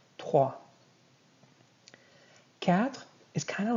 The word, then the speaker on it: trois: Trois. You're not going to be saying the S. And the O and I is going to make an wa sound. Trois.